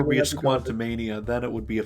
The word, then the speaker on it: Quantumania: It's Quantumania, not Quantum Mania.